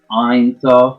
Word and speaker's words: Einsof: Einsof, not Heinz, not Ein, like Einsof. Just have to correct, because I know it's a tongue twister for those that are not necessarily used to that pronunciation.